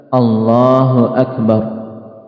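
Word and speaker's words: الله أكبر: Jadi jangan sampai Bnya dipanjangkan. Jadi lafazkan dengan benar. Allahu Akbar.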